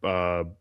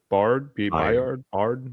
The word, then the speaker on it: Byard: Kyle Hamilton and Kevin Bard. Byard.